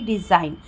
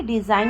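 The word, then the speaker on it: design: रहा है जैसे कि डिजाइन ठीक है डिजाइन में हम जो है कि जी का प्रोनाउंस नहीं कर रहे हैं ठीक है वैसे ही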